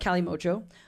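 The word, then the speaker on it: Kalimotxo: I know it looks weird, the spelling, but it's because it's two men's names, that the people that created it, they smashed their names together, and that's why it looks like that. But it's pronounced calimocho.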